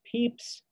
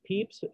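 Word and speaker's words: Samuel Pepys: well-known english writer samuel peeps the name is pronounced peeps but it's spelled p-e-p-y-s he leaves behind a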